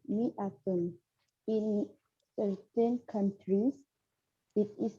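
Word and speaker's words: مائة: that in the atom the aleph is not pronounced it is pronounced mi atom in certain countries it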